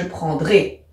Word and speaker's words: prendrai: Eh bien, j'enlève le E et j'ajoute AI, ce qui me donne je prendrai. Et je prononce bien E à la fin.